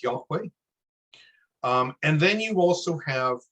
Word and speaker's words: Yahweh: Yod Het Vav Het, which roughly comes out to this, approximately thought to have been pronounced as Yahweh.